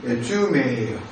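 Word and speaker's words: ζύμη: 근데 이 누눅에 대한 이 헬라어 발음이 쥐메예요.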